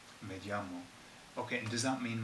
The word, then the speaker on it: me llamo: And I also hear that it sounds like a J, like you're saying me llamo.